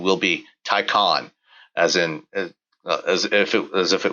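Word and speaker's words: Taycan: confirmation from uh somebody at Porsche the correct pronunciation will be tyon as in as if it as if it was spelled t a y o n uh not tyan uh so this is uh built on the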